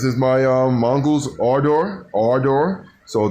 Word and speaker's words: Ardor: ardor our door so think about saying our door you know our door okay guys that's how you pronounce it now or door like you've got all doors or something like that you're about to eat the bike no it's our door like a a-r-e door or door okay guys um i